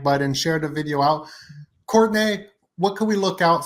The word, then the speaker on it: Courtenay: It is pronounced Courtenay, but it's spelled like Courtenay.